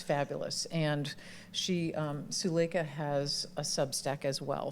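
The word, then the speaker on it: Suleika: So, it's the book of alchemy, a creative practice for an inspired life and it's pronounced sulea. Sulea.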